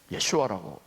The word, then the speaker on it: 예슈아: 예수님을 우리가 예수라고 하는 것은 원래 예슈아예요.